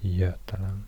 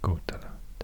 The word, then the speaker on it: Götaland: And when the letter G precedes that letter, it's often pronounced J. So it's Götaland instead of Gotaland.